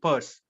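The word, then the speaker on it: Peirce: so people hardly go for such I mean purse okay so yes Charles Saunders purse probably yes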